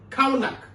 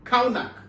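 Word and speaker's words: חָנַךְ: The Hebrew word for the phrase train up is kaunak, C-H-A-N-A-K. But the pronunciation is K-A-W. That's what I'm saying, kaunak, which depicts dedication to discipline.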